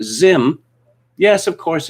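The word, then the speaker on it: Zzyym: gender by picking either male or female z-ism pronounced zim yes of course it's pronounced zim so why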